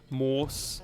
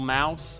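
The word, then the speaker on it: Maus: goes back to like moss or moss or Mouse I think it's just pronounced Mouse actually no didn't white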